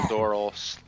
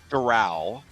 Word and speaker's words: Doral: in Doral Florida okay it's Dural oh she okay well you know me D come on that's my that's my MO is pronouncing stuff completely wrong it's D not dorl dorl dorsal fin oh I was thinking dorl as in like um the like oral it's not Doral like an oral you have an oral